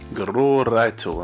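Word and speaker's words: グローライト: In Japanese text, this is pronounced as Gororaito in Japanese.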